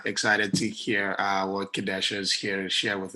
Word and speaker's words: Kedasha: pronouncing your name is kadesha yes it's kadesha long a okay great good morning